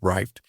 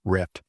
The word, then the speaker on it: RYFT: butchered the words and you're going to hear it pronounced it as rifted. It seems like no matter which voice I use, it says rifted. And that's because the spelling is R Yft. But it really is just plain old rift.